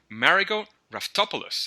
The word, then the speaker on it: Raftopoulos: engaging Learning Materials wow so today we have marot topos and I hoped that I got that last